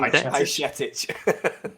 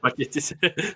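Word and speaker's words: Bajčetić: It's Stefan Bajcetic. Bajcetic.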